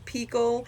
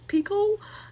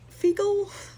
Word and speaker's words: Phicol: And Picol, but it's spelled fecal because Phicol, but I guess the H is silent, so it's Picol, not fecal.